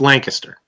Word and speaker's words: Lancaster: stores okay right well if you're gonna say it say it right it's Lancaster I don't yes sir yeah